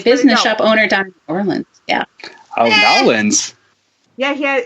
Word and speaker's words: New Orleans: You're supposed to combine the words. And take all, like, it's got like you took a peanut butter and you just smeared it. New Orleans.